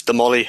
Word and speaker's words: Damolly: Yeah, it's Damolly Football Club. I know you had a bit of trouble pronouncing it the last couple of weeks there, but I'll keep you right.